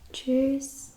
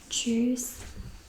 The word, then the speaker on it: tschüss: Tschüss, tschüss, tschüss, and again the pronunciation is like tschüss, tschüss. The TSCH is read as ch.